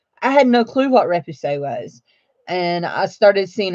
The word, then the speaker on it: repoussé: So anyway, so we're going to talk about rep, repoussé, and that I listened to the Google how you say it thing, Repoussee, and we're going to talk about Damascene.